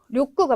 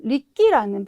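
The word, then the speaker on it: 力: 네, 그래서 두 번째 보시면 리끼라는 발음도 있어요. 그래서 노력하실 때는 료구, 그 다음에 뭐 역학, 힘의 관계를 말하는 그런 역학 관계를 말할 때 쓰는 역학은 리끼라고 읽어주셔야 된다는 거.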